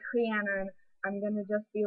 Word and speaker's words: Rhiannon: Basically, she said, Trianon. No. Bleh. But that's not how you pronounce my name. Different or same spelling does not mean same pronunciation. It's not quite accent if it's actually a different like vowel sound. Deal with it. So I'm Rhiannon, not Rhiannon, or not